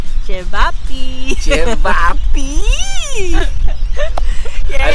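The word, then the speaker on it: ćevapi: yeah, initially I've read it as Cevapi, Yeah. but then the lady in the store said it's Chevapi. So Chevapi. yeah, it's good to know that it's pronounced as Chevapi.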